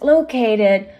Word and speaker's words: located: ful National Park is located 160 kilometers Southwest of Hanoi the first word that we have to learn about is locate the word located is stressed on the second syllable after that we have